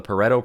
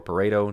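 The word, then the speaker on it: Pareto: and that is uh called the parto principal or Paro depending on who pronounce it p a r e to uh vredo parto was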